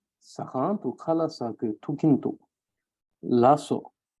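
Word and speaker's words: Lhasa: khala sake tukintu lasso, or some may also pronounce it as lakso, where they stress on ka. But this is more preferential. It's more personal preference. If you want to make it a smoother sound like lasso, or if you want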